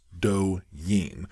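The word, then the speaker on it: 抖音: It's spelled Douyin and pronounced Douyin.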